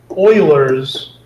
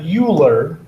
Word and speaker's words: Euler: of edges plus two this is sometimes called euler's formula it's not euler it's pronounced euler named after the mathematician leonard euler